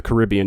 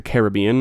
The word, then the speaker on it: Caribbean: Um which, side note, it's it's pronounced the Caribbean, not the Caribbean.